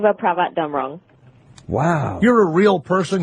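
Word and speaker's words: Chevapravatdumrong: How do you pronounce Cherry's last name? Chiva Pravat Damrong.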